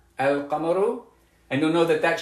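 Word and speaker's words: القمر: Because you'll know that sukoon means that I do pronounce the lam, al-qamaru, and you'll know that that shadda means that I don't pronounce the lam, ash-shamsu.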